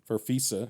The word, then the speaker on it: Farfisa: Um Anderson actually plays the violins and the keyboard including a Farfisa I don't know I'm probably not going to pronounce it right. Farfisa.